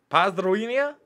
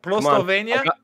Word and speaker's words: Pozdrowienia: Come on, try to pronounce it here. Pozdrowienia Z Polski. Pozdrowienia Sporski.